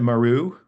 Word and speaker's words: Mier: You pronounce it Maru. Maru.